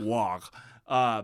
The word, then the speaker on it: WAAAGH: Wah. But use it "Wah!" which it's just it's how like a Cockney British person would pronounce war.